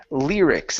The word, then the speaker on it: lyrics: one is the word lyrics instead of Ls L lyrics give me a good R lyrics all right very nice